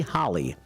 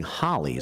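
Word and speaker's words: Halle: it here on wrmn and they kept saying Holly so I guess Holly is the way to pronounce that Family's last name after more than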